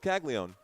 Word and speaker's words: Caglianone: So we'll just go with Caglianone. If the N is silent, then I guess it's silent.